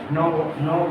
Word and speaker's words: knock: जब भी कभी भी किसी भी के बाद एन आ जाए और उसके बाद वो आ जाए तो उस के का प्रोनाउंसिएशन नहीं होगा, इसलिए इसको नॉक बोला जाएगा।